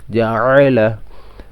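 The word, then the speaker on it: جعل: অনেকে জা আলা পড়ে, এটা ভুল। জাআলা জাআলা, ফাআলা, ফা জবর ফা, আইন জবর আ, ফা, লাম জবর লা, ফাআলা।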